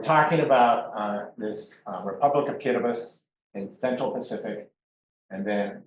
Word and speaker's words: Kiribati: And it's in a place called Kiribati. The TI is pronounced as a S sound for some reason.